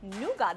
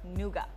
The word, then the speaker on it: Nougat: Nougat, that's correct. A lot of people mispronounce it, but it's called Nougat.